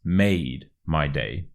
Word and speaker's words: made my day: quick pronunciation tips firstly you really want to stress the word made it's made my day it's made my day and secondly the ma and the my kind of merge together as if they were